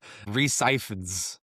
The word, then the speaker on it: Rhys Ifans: Kirk Connors, played by, and Tanner and I Googled how to pronounce this before we started, Rhys Ifans.